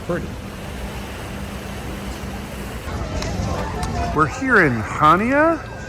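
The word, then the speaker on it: Chania: We're here in Hana. It's spelled C H A N I A. I've heard it said Hania. in Kanya.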